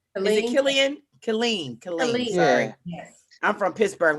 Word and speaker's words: Killeen: Killeen. Sorry. Yes. I'm from Pittsburgh. We pronounce every letter.